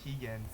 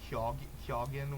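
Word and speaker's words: Keoghan: It features uh uh uh uh Barry Barry Keegan. Uh back when I was calling him Barry Kogan when like I didn't understand how to pronounce his name.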